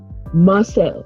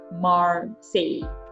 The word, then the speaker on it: Marseille: The pronunciation is actually Marseille, like Mars.